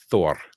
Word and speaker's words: Thor: image of thor so if you take it from the old norse it's thor it's got a rolling r you have the symbol